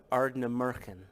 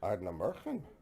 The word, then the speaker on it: Ardnamurchan: Ardnamurchan. Ardnamurchan.